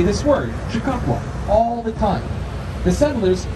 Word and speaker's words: Chicago: answer was of course chicago which is the french pronunciation of a native american word chicago so the native americans would walk around this area and say this word chicago all the time the